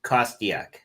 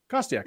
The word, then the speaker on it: Kostiak: The official pronunciation is Kostiak. Kostiak.